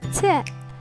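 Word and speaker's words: ت: Repeat with me, ta. The letter ta is pronounced like the clear frontal English t in tech.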